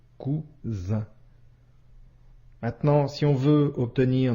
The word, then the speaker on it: cousin: comme le son ce autre exemple cousin ici la lettre S se trouve entre deux voyelles la lettre U et la lettre I la lettre S ici se prononce bien comme le son ze cousin maintenant si on veut